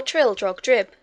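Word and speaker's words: Trildrogdrib: trial drag dub or trill drug drip for it is pronounced both ways as near as i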